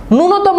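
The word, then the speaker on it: ন্যূনতম: এই বানানগুলোতে দীর্ঘকার বসে ননতম বানানটা খুব গুরুত্বপূর্ণ ননতম বানানে দেখ এইয এর সাথে ন এর সাথে একটা জফলা আছে কিন্তু আমরা উচ্চারণ করি ননতম এটা কিন্তু টোটালি ভুল উচ্চারণটা হবে নূনতম তুমি বানানের দিকে খেয়াল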